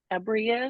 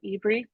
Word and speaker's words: EBRI: Thanks for that good background knowledge of what EBRI is, or eBree, depending on the pronunciation.